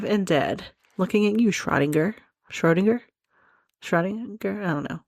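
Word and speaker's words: Schrödinger: Okay, some video that I found on YouTube says that you pronounce it shrodinga. I am just so stupid right now, but because I'm American, Schroinger is probably the right way to pronounce it.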